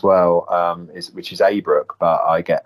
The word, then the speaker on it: Abrook: my surname as well um is which is a brook but i get a lot which is no big deal um